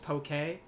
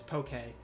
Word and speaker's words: poke: Isn't it Isn't it Isn't it pronounced pokey? Is it on on Wikipedia? It lists the pronunciation as pokey. Oh, well then It's It's a Hawaiian dish, so it's in Hawaiian.